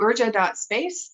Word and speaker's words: urja.space: So urja.space is how you say that.